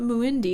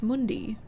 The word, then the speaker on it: Mundi: It's not It's not Muindi, it's Mundi. Hello?